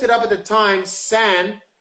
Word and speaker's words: san: But when I looked it up at the time, San, which people say son all the time, Daniel San, Daniel San.